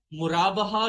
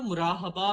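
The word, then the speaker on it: murabaha: अच्छा अच्छा अब हम देखते हैं मुराबाहा क्या होता है। अच्छा कुछ लोग इसको ना मुराहबा भी कहते थे। लेकिन अभी मैंने ज्यादातर पढ़ा है तो यह मुराबाहा ही मतलब प्रोनाउंस किया जाता है।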